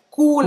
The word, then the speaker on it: cool: Tem dois O's, é a palavra realmente inglesa. E os franceses falam com som de U, certo? E esse L no final, ele é pronunciado à la française.